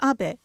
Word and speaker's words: Abe: to the White House my name is Abe but in the United States some people mistakenly pronounce my name as ape but that is not